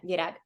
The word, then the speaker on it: Virag: I agree with what Ian is saying, and I want to talk about how do I pronounce it? Is it Virag? Virag, with a gay, yeah, Virag.